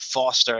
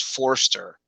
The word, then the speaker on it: Forster: i know how it's yeah but they wrote it wrong they wrote it foster and it's forster it'll be on the